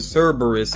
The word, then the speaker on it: Cerberus: I know I was mispronouncing that before, but Cerberus is the name. I think I was picturing it when I pictured the word. I think I was leaving out a letter there.